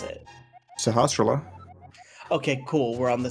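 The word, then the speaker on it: Sahasrahla: what's this old man's name how do you pronounce it sahasrara okay cool we're on the same page it's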